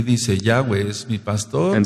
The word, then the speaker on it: Yahweh: Entonces el nombre se pronuncia Yahweh. The name is pronounced Yahweh.